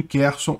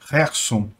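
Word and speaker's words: Херсон: mas a situação continua basicamente a mesma em kerson Aliás a pronúncia correta seria Gerson mas eh desculpem eu me acostumei a falar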